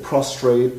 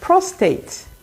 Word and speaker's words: prostate: because many people say prostrate prostate what is it which one is it prostate prostate cancer prostate yes no so there's only one r it's a prostate prostate